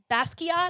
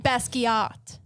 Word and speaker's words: Basquiat: the orlando museum's uh basket is that how you pronounce it from that existence i need you to get this right basket pronounce it correctly please brett kavanaugh uh